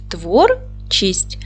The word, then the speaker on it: творчість: що ж Давайте перевіримо поділимо слово на склади твор чість наголос падає на перший склад Т твердий приголосний в